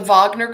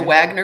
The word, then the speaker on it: Wagner: pronounced it's uh the Wagner group some people call it the Wagner group but that's the Americanized version of the Americanized but